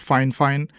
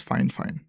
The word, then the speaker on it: FIFINE: In case you're confused, yes, it is pronounced FIFINE, very often mispronounced as FIFINE, but I did check with them and they mentioned that the correct pronunciation is FIFINE.